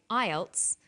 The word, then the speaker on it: IELTS: is called an acronym with an acronym we don't pronounce the individual letters we pronounce it as a word so we say IELTS not I al t